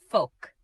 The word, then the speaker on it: folk: folk Pronounce it as folk. The letter L is silent.